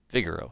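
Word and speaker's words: Vigero: model of the uh the Vigoro I think that's how you pronounce it figuro yeah v g e r o um this is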